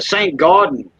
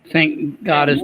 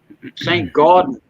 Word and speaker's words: St. Gaudens: Oh, the St. Gaudens. Saint Goddess double eagle. The $20 Saint Goddess. St. Gaudens.